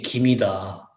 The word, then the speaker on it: 김: 그래서 그거 항상 그 설명하느라고 야 나는 아니고 분명히 김이다.